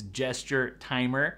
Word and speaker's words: Gestimer: The first thing that I put on my list to install was Gestimer, which I did pronounce right in the last video. It's Gesture Timer.